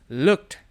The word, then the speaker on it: looked: Di sini, kata "looked" dibaca dengan menggabungkan K dengan D. Jadi, kita baru saja menghilangkan E. Jadi, kata yang dibaca adalah "looked".